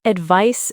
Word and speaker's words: advice: Advice sounds like advice with an s sound at the end.